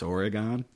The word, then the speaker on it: Oregon: perpetuate the stereotype that it's Oregon. I was going to So say, I always maybe say you've jumped right in. It is Oregon, but well, at least he remembers his roots. in terms of syllables, yeah.